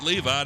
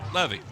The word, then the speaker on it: Levy: And we call him Levy because one of his buddies was up here earlier and says his name, they don't pronounce it Levi, they pronounce it Levy.